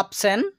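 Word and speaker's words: option: তো প্রত্যেকটি ওয়ার্ডে আমরা শব্দের শেষে পাচ্ছি টি আই ও এন, এর পূর্বে আমরা এস ব্যতীত অন্য লেটার দেখতে পাচ্ছি, তাই আমরা সন এর মতো উচ্চারণ করছি।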